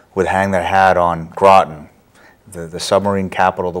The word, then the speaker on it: Groton: Or how to pronounce it, even. That's true. Groton. We still have people that say Groton.